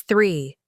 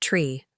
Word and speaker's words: three: It's three, not tree.